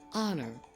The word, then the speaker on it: honor: word like our and honor the words start with h but you don't pronounce the h and these words you